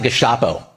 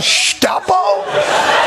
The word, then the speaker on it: Gestapo: In America, we pronounce it Gestap.